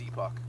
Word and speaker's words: Epoch: It's pronounced Epoch.